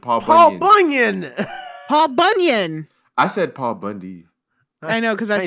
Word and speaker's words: Paul Bunyan: Paul Bundy. You said it wrong too. Paul Bunyan.